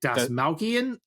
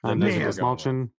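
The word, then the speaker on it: Dastmalchian: his last name, but is it Desmalchian? Desmalchian? I think it's Desmalchian. Desmalchian. Yeah. Desmalchian. Okay. That's how he introduces himself in his show on YouTube. Okay, gotcha. Then Desmalchian.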